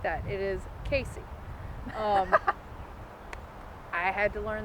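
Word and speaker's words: Cayce: lexington county you have casey which it is spelled unlike the way it is pronounced it's c-a-y-c-e it's not cassie it's not uh say c anything like that it is casey um i had to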